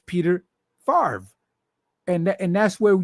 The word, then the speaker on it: Favre: was for the Green Bay Packers Brett Favre pronounced Favre now I'm seeing earlier it says Fab and